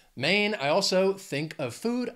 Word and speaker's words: Maine: food our next state Maine has one syllable just one main Maine I also think of